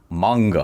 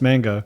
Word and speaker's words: manga: to manga. I think Yeah. it's pronounced mango.